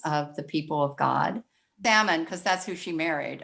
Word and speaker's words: Salmon: husband in um matthew s-a-l-m-o-n i know i looked it up and said it's pronounced salmon i don't know the